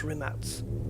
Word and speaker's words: Rimac: It's not Rimac. It's Rimats.